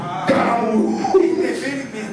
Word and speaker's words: Caramuru: Escreve Caramuru e coloca um acento no último. Caramuru. Certo? Ele nem lê o resto. Se o primeiro nome é Caramuru com acento na última sílaba, indefinido.